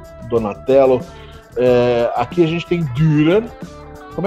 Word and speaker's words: Dürer: Aqui a gente tem Dürer. Como é que se pronuncia isso? Albrecht Dürer. Você fala o U como se estivesse falando a letra I.